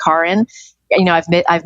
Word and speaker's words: Karin: it became really important my name is actually pronounced Karen you know I've bit